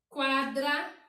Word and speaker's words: quadra: Quadra. Nós pronunciamos a letrinha U, quadra.